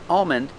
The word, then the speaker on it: almond: never touches the roof so you don't hear an L you hear um almond and calm and palm like this palm tree